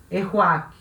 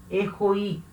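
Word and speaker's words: héroïque: Eu não posso juntar o O com o I e falar o A. Não. Eu tenho que separar o O do I e falar as duas vogais separadas.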